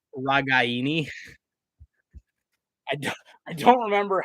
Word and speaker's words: Ragaini: how it's pronounced but everyone says Nico regani as Nico regani and like his grandma or somebody got like upset with the commentators because they were pronouncing it wrong I'm pretty sure it's like ragaini I don't I don't